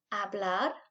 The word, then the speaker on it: hablar: put the emphasis and the h is silent let's try that again hablar if you said cocinar